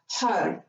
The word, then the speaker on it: Har: to use the mantra hug so when you say this it might sound like a HUD like HUD but it's spelled hard so H a R